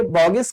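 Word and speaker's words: Bogue: जो अभी मैं आपसे बोगिस कंपाउंड डिस्कस नहीं किया हूं, ठीक है, बोगस कंपाउंड बोलते हैं, बोगिस कंपाउंड बोलते हैं, अलग अलग प्रोनाउंसिएशन है लोगों का।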